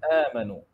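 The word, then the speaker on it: آمَنُوا: They say Amanu. Rather it is Amanu, Amanu. It has to be with a flat mouth.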